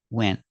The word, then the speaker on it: went: vowels in this case the T is like a silent T you can make a